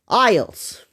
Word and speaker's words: IELTS: It says I E L Ts. It's it's pronounced ISS.